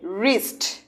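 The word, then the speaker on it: wrist: তুমি কেবল দেখবে যে ডাব্লিউ, ডাব্লিউর পর কি আর আছে? তেমন হলে এই ডাব্লিউ কি থাকবে? সাইলেন্ট। উচ্চারণ এখান থেকে।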